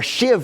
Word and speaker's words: sheave: It's a sheave, or shiv was how they pronounce it.